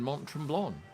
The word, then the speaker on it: Mont Tremblant: It's my It's my first time in Mont Trlon. Is that how you say it? I think it is. You don't say the T at the end.